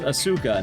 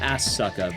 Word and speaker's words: Asuka: Cuz you have Assuka and Ray, which I'm pretty sure it's pronounced Asuka, not as sucka, but I don't know.